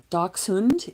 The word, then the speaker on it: Dachshund: So doc hund is how you pronounce it and they are badger dogs.